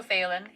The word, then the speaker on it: Phelan: There's also Phelan, who was, which always sounds like Faywin, but it's spelled very differently, who was originally part of your clan, obviously.